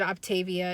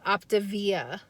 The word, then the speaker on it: Optavia: pronounce it correctly um i think i said octavia it is called optivia optivia so i have gotten